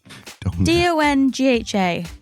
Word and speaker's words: Donga: Paul Donga, how do you pronounce that? Dongha.